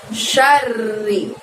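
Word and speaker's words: شَرِّ: Kemudian syarri. Ada kata-kata syarri. Ingat, syaknya di situ pendek, tidak ada tanda panjangnya. R-nya harus double ya, terdengar bunyi R-nya double karena di situ ro tasydid. Syarri, min syarri.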